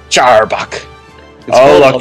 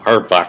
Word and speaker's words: Arbok: Charbok. It's called Arbok. Just call it Arbok. Don't make it pronounce a CH in the beginning for no reason.